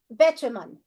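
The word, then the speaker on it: Betjeman: okay uh the pronuncio pronunciation according to Google is beiman Betaman so Betaman I thought we were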